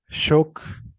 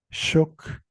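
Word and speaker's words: xook: la palabra para Tiburón se pronuncia shock shock y vemos aquí el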